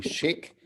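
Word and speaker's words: Szyk: named archer chic um s-z-y-k if you want to look that up but it comes it comes pronunciation would be chic and he drew his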